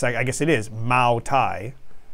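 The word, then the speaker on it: Moutai: spelled like yeah it's I guess it is ma Thai it's meant to be pronounced ma Thai but using a different uh spelling uh than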